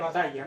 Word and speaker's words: Battaglia: aquí a mi lado se escribe Sí bataglia pero en fin en italiano se pronuncia batalla no e y el